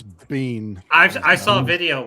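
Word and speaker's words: Biehn: How do you pronounce Bean? We say bean in Scotland. I hear people say bean. Bean. Bean. Bean. I've heard I've heard people say bine.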